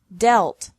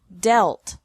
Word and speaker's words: dealt: Another group has EA pronounced differently from the present to the past and past participle. Deal, dealt, dealt.